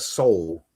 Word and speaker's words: Seoul: So you have that Seoul, or is it pronounced Seoul? But it sounds like it's soul, like the actual human soul. Yeah, it does sound like that. It is.